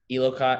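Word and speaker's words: Eleiko: All the bars would be the Elocott. I can't even say the word. Low key bars, the ones that cost like $1,500. Lico bars. Lico, yeah. Did I say it right? Lico, there you go.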